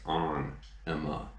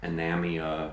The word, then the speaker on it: Ænima: how to pronounce it, but it actually is Ænima, not Anamia or Enema or Anima or whatever. It's Ænima, and this is my old beat up CD copy.